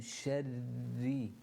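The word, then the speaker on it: شَرِّ: back and say min sharri, and again you'll notice there's a shadda and a ra, which means that you need to pronounce two ra's from that from the makhaarij.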